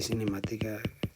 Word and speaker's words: cinemática: Aquí cinemática lleva acento en la A.